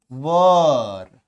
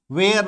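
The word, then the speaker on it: were: आपको ऐसे करना है, वर, वर, वर वधु वाला वर, ठीक है, वर नॉट, वेयर नॉट नहीं बोलेंगे इसको, वेयर नॉट इज the wrong pronunciation, वेयर नॉट गलत उच्चारण है, वर नॉट।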